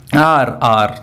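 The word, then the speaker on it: hour: चलिए फिर बताएं क्या है भाई, आर, दोनों का प्रोनाउंसिएशन सेम है। हम लोग बोलते हैं आवर नहीं होता है, आर होता है, क्या होता है, आर।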